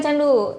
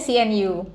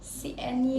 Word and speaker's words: CNU: Sebenarnya ini bukan candu, ini bacanya CNU. CNU.